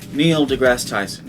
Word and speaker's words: Neil deGrasse Tyson: hola neil degrasse tyson neil degrasse tyson is evidently how you pronounce his name and during this debate